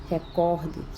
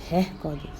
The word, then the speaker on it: recorde: No caso, ela é uma paroxítona e muitas pessoas a leem como se fosse uma proparoxítona. É tão provado que não tem acento. E vocês sabem que todas as proparoxítonas são acentuadas. Então, ao invés de pronunciar recorde, você pronunciando recorde, você está cometendo uma silabada, um desvio de prosódia.